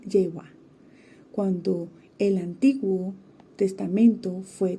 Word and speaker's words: Jehová: lo nombra Dios históricamente a menudo hemos pronunciado la palabra como Jehová cuando en realidad esta suena más a jehua cuando el Antiguo Testamento